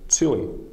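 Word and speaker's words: ćilim: Ch, which is a bit softer, can be heard in the word chewing, which means rug or carpet.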